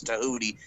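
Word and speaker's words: Tehuti: made me laugh because his name was tahuti at rhymes with hudi i only want to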